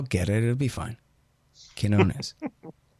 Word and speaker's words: Quinones: Oh, you got to really get the quiche. Quinones. Yeah. It's a K. It's like an Arabic Q.